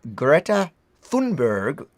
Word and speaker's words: Greta Thunberg: Now, once we'd finished, this was the images of Greta Thunberg, as we've now learned is how you pronounce it.